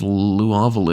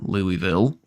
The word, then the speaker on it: Louisville: God, imagine if Louisville or Louisville, as it's correctly pronounced.